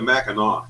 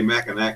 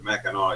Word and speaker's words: Mackinac: You pronounce it the Mackinac. Everyone wants to say Mackinac Bridge, but it's the Mackinac, even though it's NAC it ends in.